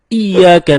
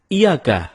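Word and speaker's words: إِيَّاكَ: nabudu wa iyyaka nasta'in ada yang membacanya dengan Iyakah tidak menekan huruf Ia seperti seperti sebagaimana kita jelaskan tadi bahwa penekanan itu dapat merubah makna kalau kita baca iyakanabudu dengan menekan huruf ya maka artinya menjadi kepadamu lah kami menyembah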